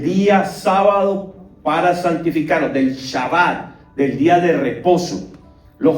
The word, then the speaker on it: Shabbat: Eso significa Shabbat. Se escribe así, Shabbat, S-H-A-B-A-T.